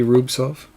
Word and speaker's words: Rubtsov: And then we had a Young Guns canvas of Rubtsov, Silent T Rubtsov.